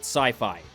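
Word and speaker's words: Syfy: the public as a sify original movie and yes I still refuse to pronounce it sci-fi because I'm a dick and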